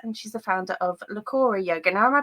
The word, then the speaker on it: Leah: a yoga teacher, and she's the founder of Leah Yoga. Now, am I pronouncing that correctly, Leah? Yep, that's right. Leah Yoga.